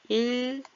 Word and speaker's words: 읽기: 근데 얘는 어떻게 해요? 읽기. 이렇게 발음됩니다. 이렇게 읽기. 얘가 자음이 합쳐져서 읽기. 이렇게 소리가 나요.